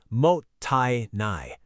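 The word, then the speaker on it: もったいない: That word is mottainai, pronounced mo-tai-nai.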